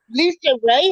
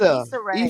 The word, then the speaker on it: Issa Rae: Lisa Ray has a show now? Mm-mm, No, mm-mm. Issa, Issa Rae.